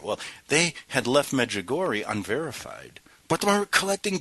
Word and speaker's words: Medjugorje: Now, the root of Kranzer's angst lies in the once sleepy hamlet of Medjugorje, pronounced Medjugorje.